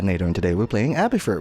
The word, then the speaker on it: Abathur: and today we're playing abby for which rhymes with patinator and that's why i